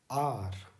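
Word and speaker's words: hour: आर, एच का sound इसमें silent होता है, इसको हम सिंपली पढ़ते हैं आर, यानी कुछ ऐसा आप समझ लीजिए।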